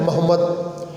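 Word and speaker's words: Mehmed: तुर्की language के बहुत सारे वर्ड हैं जो कि दूसरी ज़ुबान में प्रोनाउंसिएशन तुर्की की और दूसरी प्रोनाउंसिएशन से थोड़ा सा फ़र्क है। महमद, मोहम्मद, ठीक है।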